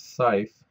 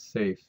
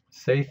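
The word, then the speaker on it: Saiph: most of my life I learned it as scyth but the correct pronunciation is safe safe is a star that has a surface temperature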